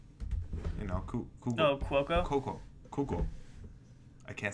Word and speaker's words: Cuoco: So next one, Kaylee Kogo. I can't never say her name right. Kogo. Oh, Cuoco.